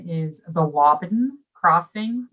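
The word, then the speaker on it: Waaban: to do that uh the name is the wobben crossing wobben so it's a longer a sound thank you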